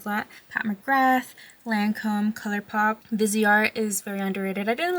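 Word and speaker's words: Viseart: I think it's pronounced Vizart, but I also hear people say Visart.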